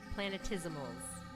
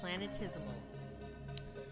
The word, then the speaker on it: planetesimal: Planetesimals. Like decimals. 5-syllable word, humans. Planetesimals.